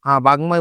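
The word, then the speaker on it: বাগ্মী: হবে এইরকম করে আরো কিছুর চিন্ময় উচ্চারণ আছে বাগময় উচ্চারণ আছে এরকম করে কিছু উচ্চারণ আমরা দেখতে পাবো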